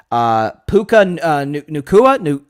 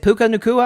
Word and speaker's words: Puka Nacua: Puka Nacua, I think is how you say it. Puka Nacua, I think is how you say his name.